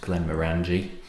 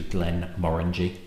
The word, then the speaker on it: Glenmorangie: 10, would be pronounced Glenmorangie, but the emphasis is on the second syllable, so it's actually Glenmorangie.